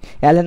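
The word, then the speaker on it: ln: আচ্ছা এবার কি করব, আমরা উভয় পক্ষে লক নিব, লকি লকি মানে অ্যালেন নেওয়া, উভয় পক্ষে অ্যালেন নিব, তার মানে অ্যালেন কে সমান অ্যালেন, উভয় পক্ষে আমরা অ্যালেন নিয়েছি। অ্যালেন মানে হচ্ছে কি, লন, লন মানে কি, লন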